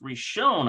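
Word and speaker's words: ראשון: derived from reshone now this is pronounced reshone I believe we're shown yeah so uh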